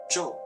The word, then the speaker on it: 咒: This Chinese character is pronounced zhòu in Mandarin Chinese.